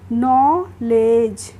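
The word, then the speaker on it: knee: पढ़ेंगे इसको हम पढ़ेंगे नी इसको कनी नहीं पढ़ेंगे नी पढ़ेंगे और नी की हिंदी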